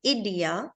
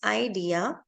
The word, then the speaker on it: idea: done so many times if anytime a vowel is left alone in a syllable it is a long sound so like in the word idea it's not idea it's idea the reason is again